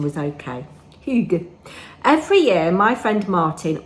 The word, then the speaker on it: hygge: Oh, and Karin Borenius, who lives in Sweden, said she thought my pronunciation was okay. Hygge.